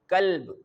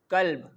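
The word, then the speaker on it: كلب: Okay, but if we comes to this word which is starting from the simple and thin kaf, we can pronounce this word like kalb.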